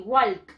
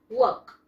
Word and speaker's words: walk: No le aumentamos la L, le quitamos más bien la L, ¿ya?